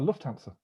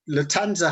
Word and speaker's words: Lufthansa: like that latanza well lufthansa i think it's a silent f i think it is if you're a real wise guy you don't pronounce the f so the the latanza heist is the key